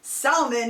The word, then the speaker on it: salmon: It's actually pronounced salmon in the book. That I thought was kind of funny. You actually pronounce the L in the book, not in how when we say it.